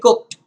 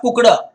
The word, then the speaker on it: cooked: the asparagus to be cooked i have said this many times that you may must make the sound here okay pronounce it as cooked instead of cucuda don't make that duh sound it's cooked okay panic seized me